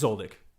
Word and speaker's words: Zoldyck: It's again pronunciation, man. Yeah, no worries. It's Zoldyck.